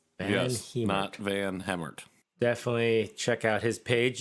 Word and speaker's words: VanHemert: that's which is fun fact that's how you pronounce his last name van heemert yes van hammert definitely check out his page you can find